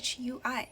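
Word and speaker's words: 水: and meanings for example if the ping shui is pronounced as the third tone it means water if it is pronounced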